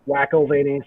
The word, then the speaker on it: McElvaney: It's McElvaney, so it's my last name, but whack instead of MC at the beginning because I'm whack.